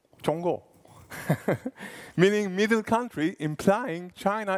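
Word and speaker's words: 中国: Can a Chinese person help me with the pronouncing? Zhonggu. Zhonggu.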